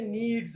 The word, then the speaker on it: kneads: आटा गूंदने को कहते हैं नीड्स, K-N-E-A-D-S, के साइलेंट है, ठीक है.